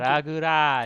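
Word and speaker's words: ラグラージ: Are you sure there's those extra syllables? Because on Cerebi it's just Rugaji. It's Naguraji. Huh. Naguraji. Raguraji. Technically. There's the dash for that, an extension of the previous vowel, yeah.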